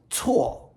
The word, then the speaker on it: cuo: Additionally, we'll do 3 characters, all pronounced tswo in the 4th tone.